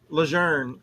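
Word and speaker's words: Lejeune: Leger uh is the proper pronunciation.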